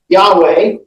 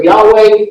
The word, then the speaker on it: Yahweh: for God, is this, which we typically pronounce Yahweh, but that's a guess because it was never written fully and properly and never pronounced by the Hebrew people.